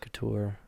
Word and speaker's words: Couture: Okay, well, so my dad says, and my family say Couture, and that's I'm sorry, but it's wrong. It's couture. Yeah, couture sounds more. That's how it's pronounced Right. in France. Like couture, the fashion line. Yeah. It is a French word.